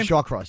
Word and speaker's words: Shawcross: Shawcross.